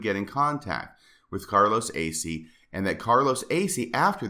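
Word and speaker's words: Asay: in contact with Carlos Acey, who was a member, or it's AC. It was a little bit of an unusual pronunciation.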